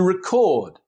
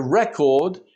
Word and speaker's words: record: To record, to make a note or an engraving like in a TV show or a movie. And a record is a note or a file with information recorded on it.